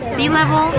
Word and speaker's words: Sea Level: The place is called Sea Level. Is this on focus? Yeah. Sea level, not syllable.